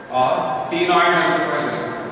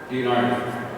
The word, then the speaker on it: ctenoid: Scales are called ctenoid. See, ctenoid. Scales are called placoid, ctenoid. C is silent. C is silent. That's what we are saying it as a ctenoid.